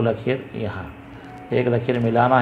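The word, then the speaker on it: ل: ल अंग्रेजी में जैसे एल की आवाज़ होती है, ल।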